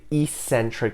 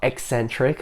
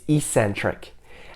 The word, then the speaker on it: eccentric: The next kind of contraction is the eccentric contraction, not eccentric. A lot of people pronounce it that way. It's eccentric.